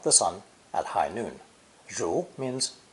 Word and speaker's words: 如: This character is pronounced second tone, 如, 如, and basically represents a woman listening to and following a spoken order.